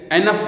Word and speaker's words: enough: इसका प्रोनाउंसिएशन भी बच्चों समझ लेना, ENOUGH, एनफ बोलते हैं इसको.